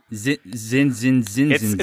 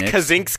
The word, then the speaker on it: Kazinks: Is that how you say his name? Zinzinix. No, it's Kazinks. Kazinks. Kazinks. Kazinks. Keep trying to tell people this, and no one believes me.